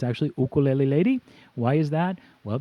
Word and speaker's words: ukulele: calling this for years ukulele lady but it's actually oh cool le lady why is that well because there is no letter Y in the Hawaiian alphabet everybody the letter U is pronounced whoo so it's oh cool